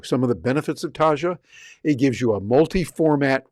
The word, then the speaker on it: Taja: That's spelled t a j a.